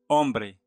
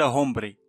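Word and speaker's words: hombre: أمبري رجل. هذا الحرف لا ننطقه ها، مثلا أن نقول هومبري، لا، أمبري.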